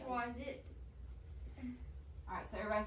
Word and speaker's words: choisis: Schwa, Um, E, it's I-T, but I don't know how to say Schwaz it. Alright, so everybody say je choisis, it. Just Schwazi.